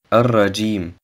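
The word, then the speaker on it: الرجيم: Ar-Rajim. Das Alif und das Lam im Wort Ar-Rajim werden nicht ausgesprochen. Das Ja im Wort Ar-Rajim wird 3 bis 5 Harakat verlängert. Die Lautbildung des Ja entsteht zwischen dem oberen Gaumen und dem Zungenblatt.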